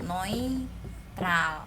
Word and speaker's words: neutral: Ingat, EU jadi OI, neutral, oke?